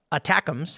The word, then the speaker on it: ATACMS: to its Battlefield benefits attacks pronounced attacks that's funny it's a